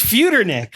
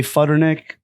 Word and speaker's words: Futernick: to keep reminding myself it's Fe Nick like it's actually F like food Fighters I've told John this before it's feick but also people that I grew up with who know how to pronounce it say futernick it's a little disrespectful